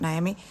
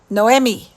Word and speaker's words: Noemi: Jess and Nai no not naami um how do you say her name um not naami it's um Noemi noomi fox in the